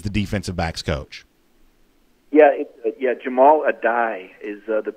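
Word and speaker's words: Jahmile Addae: Yeah, Jamal Adai is the pronunciation.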